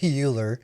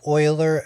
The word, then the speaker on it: Euler: ddim Euler not Euler I used to say Euler sounds like Bueller Bueller but it's pronounced Euler after a very well